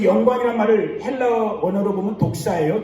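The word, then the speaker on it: δόξα: 예배는 개인의 예배든 공동체의 예배든 여러분 하나님의 영광, 그 영광이란 말을 헬라어 원어로 보면 독사예요. 좀 우리말로 하면 이상하죠. 독사. 뱀 있는 독이 아니라 헬라어 발음이 독사예요. 하나님의 영광.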